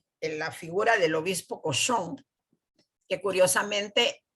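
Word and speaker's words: Cauchon: la figura del obispo cosón que curiosamente en francés el apellido Este señor se pronuncia igual a la palabra cerdo aunque se escriba de diferente manera Entonces el nombre le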